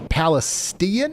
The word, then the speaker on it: Palestine: It's passing south of Palestine, Illinois. It's pronounced Palestian.